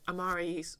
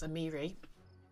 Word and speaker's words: Amiri: Yep, Amari's. Oh, sorry, I keep pronouncing her name. It's Amiri.